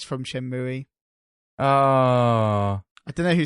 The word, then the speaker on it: Shenmue: Because it's from Shenmue.